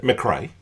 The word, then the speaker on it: McRae: How do you pronounce it? McRae.